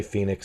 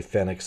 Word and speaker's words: Fenix: know some people say Phoenix some people say Fenix I can't get used to the idea that Fen iix has a long e sound forgive me and it